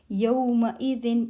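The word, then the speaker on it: يومئذ: Yawma idin. Yawma, day. Yawma. It's not yawma, it's yawma, day. Yawma, day. Yawma, day. Yawma idin. Ma is very short sound.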